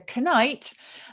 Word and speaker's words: knight: you know that a knight in shining armor that we use to pronounce it as a canite um because it goes